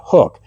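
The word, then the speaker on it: Huk: The fifth item on my list today are these Hook Performance shirts. Now, it looks like it's spelled Huck, but it's actually pronounced Hook.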